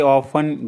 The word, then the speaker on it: often: मैं वहाँ अक्सर जाता हूँ, I often go there. I often go there. इसमें टी साइलेंट होता है often में।